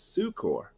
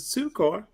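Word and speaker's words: succor: And now this is let me predict he's gonna tell me about sucker versus sukor and I pronounce a sukor. The reason I do is we don't want to confuse it with sucker.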